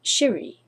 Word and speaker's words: Siri: leads you to victory but the Japanese alphabet has no C Sound Siri would be pronounced something like Shiri in their language and in Japanese Shiri